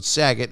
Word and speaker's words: Saget: in your intuition and use the promo code saget yes it's spelled s-a-g-e-t and use that promo code sagit and double your first deposit new players get